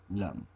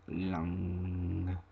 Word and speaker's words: Lam: Above the triangle is the bija for Muladhara, Lam. It can also be pronounced Lang, the ng sound.